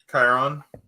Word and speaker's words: Chiron: the boat driver's name Chiron yeah that's how I've always pronounced it I don't know if that's actually yeah yeah that's actually the proper pronunciation but yeah of course